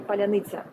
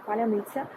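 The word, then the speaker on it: паляниця: uh whilst i was asking you to say palanitza this is a funny thing because like uh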